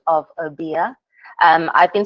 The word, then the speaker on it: Obeah: And thank you for clarifying the pronunciation of Obeah. I've been saying Obey for a while.